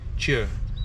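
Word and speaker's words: Tje: Oh, with che, this T J E. Okay. Pronounced as cheer.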